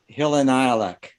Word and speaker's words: Hillenilek: I've had various pronunciations, everything from Huckleberry to Hook and Eye, but technically it's pronounced Hillenilek.